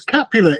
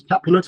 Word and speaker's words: Capulet: It's Capulet. It's Romeo and Juliet. It's the Montagues and the Capulets. And when I was at school, it was Capulet.